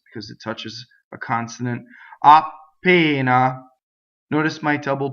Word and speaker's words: appena: Appena. Notice my double P. Appena. So it's just a stop, right? And it's not two P's. Long vowel. I go up to the P. I don't say it.